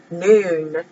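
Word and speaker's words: Nun: letter for m m noon it's spelled none but it's pronounced noon this is for the letter n and has the value of 50.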